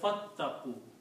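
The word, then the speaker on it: فاتقوا: And when you read fa, then you do not pronounce this alif here. You say fattaqu.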